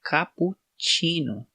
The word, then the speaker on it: cappuccino: 26 ali né e ele tem esse som de tx tsh chino né capo chino eu acho muito bonito